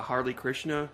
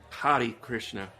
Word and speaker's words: Hare Krishna: And they do go for humor with the Harley Krishna zombie, which my dad used to make fun of Harley Krishnas. I'm probably mispronouncing it. Harley like a motorcycle, Yeah, but Hari Krishna, which I was going to research that.